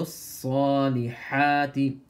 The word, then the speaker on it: الصالحات: عين with harshness عملوا And صال has a تشديد So you have to hold on to the صال for a moment and make it full mouth وعملوا الصالحات pronounce the ha with